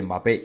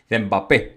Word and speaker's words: Mbappé: de favorito Romano porque los italianos por algún motivo no sé no pronuncian la m mbappé mbappé Bueno pues el nueve